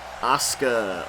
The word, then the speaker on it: Asuka: see who this is, the Raw Women's Champion, Asuka, or as the announcer on this game calls her, Asuka.